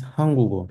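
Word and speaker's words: 한국어: Like this is hangugo, hanguk, and this G moves where the silent is.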